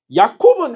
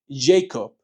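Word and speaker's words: Jakob: 야콥은 한국식 발음이고 이제 쌤 같은 이제 미국 출신들은 어떻게 발음을 해? Jacob. Understand? Jacob.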